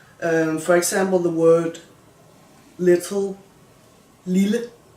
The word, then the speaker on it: lille: You can hear the double L is just an L sound. If we assume that there was a word like this one, like lille, but with only one L, the pronunciation would be lille. The vowel becomes long and kind of sharp. But when you have double L, it is lille, lille, lille. Hear the difference?